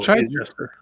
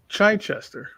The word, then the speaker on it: Chichester: Oh, Chichester. It's what? Chichester. Oh. Chichester. I'll believe you. I don't know. No, I've heard interviews with him. Yeah, that's how he pronounces it.